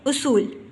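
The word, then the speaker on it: اصول: ये असूल गलत तलफ़्फ़ुज़ है। सही तलफ़्फ़ुज़ में हम अलिफ के ऊपर पेश पढ़ते हैं, पेश की इलामत आती है और इसको हम पढ़ते हैं उसूल।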